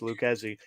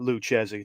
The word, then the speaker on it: Lucchesi: the French pronunciation but probably not my Italian pronunciation as it's Luke as he had not luchezy thank you very much